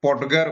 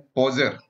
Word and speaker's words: Podger: बहुत सारे लोग इसको पॉडगर बोलते हैं, जो कि ये वाकई गलत है. पॉडगर नहीं पढ़ा जाता, इसको पढ़ते हैं पोजर. सही उच्चारण जो है, सही प्रोनंसिएशन जो है, वो पोजर होता है.